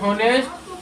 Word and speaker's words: honest: अब एक और देख लीजिए, HONEST हॉनेस्ट, और यहाँ पर क्या लिखा हुआ है?